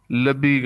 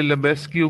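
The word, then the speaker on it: Lebesgue: एक जस्ट मैयर था, जनरल मैयर, फिर आउटर मैयर, और फिर लबीग आउटर मैयर। इसे पढ़ने वाले लेबेस्क्यू भी पढ़ते हैं, लिबेस्क्यू आउटर मैयर। अपनी अपनी प्रोनाउंसिएशन है, जैसे मर्जी पढ़ लें।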